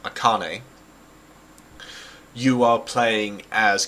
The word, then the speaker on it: Akane: finally worked out like I used to pronounce a name a a cane I think it was a cane but Akane you are playing as